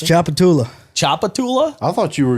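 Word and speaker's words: Tchoupitoulas: Well, I'm going to say the T is silent. Shooptula Street. I don't even know how to pronounce Shooptula that. Street. That's Chapatula.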